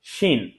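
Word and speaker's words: ش: এই আওয়াজটা আসলে বুঝতে হবে যে আমাদের উচ্চারণটা প্রপারলি হচ্ছে সিন। তারপর আসছি শিন।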